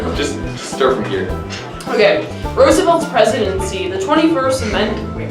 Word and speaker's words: Roosevelt: Roosevelt, No. Roosevelt. I've heard it pronounced in all different ways.